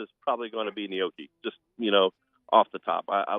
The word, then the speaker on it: gnocchi: Where would I buy gnocchi? The Asian you can buy market? it in the refrigerator. No. It's GNOCCI. I've never pronounced that like that in my head. I've Gnocchi, always called that like nochi or gnocchi.